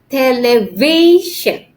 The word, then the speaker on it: television: before the end okay for example we have television okay sh here is the last syllable okay so we put the stress on the word v so it has to be television okay the second syllable